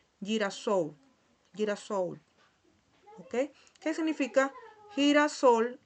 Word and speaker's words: girasol: Tenemos la palabra girasol, ¿verdad? Se escribe de esta manera, pero cuando hay una L aquí al final, se pronuncia como si tuviese una U. Girasol, girasol, ¿ok?